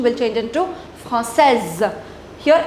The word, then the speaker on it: française: Now, in order to make it feminine, you'll add E and the pronunciation will change into Française. Here S will not be pronounced, here S will be pronounced.